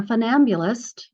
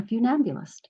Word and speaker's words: funambulist: And fune is, it's pronounced fune, not fun, because it's from the French for rope.